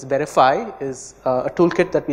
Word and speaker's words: VerifAI: so so veriff ai or we pronounce it as verify is a toolkit that